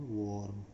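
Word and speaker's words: warm: भले इसमें ए है लेकिन इसका उच्चारण फिर से ओ की तरह होता है, और इसका उच्चारण कुछ इस तरह से है वार्म.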